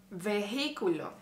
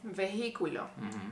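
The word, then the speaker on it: vehículo: mistakes you made uh veiculo vehiculo what's the mistake there well you in Spanish you don't pronounce the letter h under any circumstance you you don't pronounce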